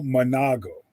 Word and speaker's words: Manago: it one more time for me dr cleo manago manago okay i'm sorry for the mispronounciation no problem okay doctor so look i